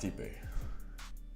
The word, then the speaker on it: Stipe: And so it's pronounced Stipe.